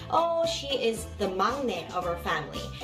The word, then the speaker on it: 막내: Then you can say, oh, she is the 막내 of our family. And I know it is written as 막내, but you pronounce it as 막내.